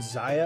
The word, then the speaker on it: Zaya: Zaya is correctly pronounced Zaya. I finally looked at the Kickstarter campaign and they pronounced their own game properly.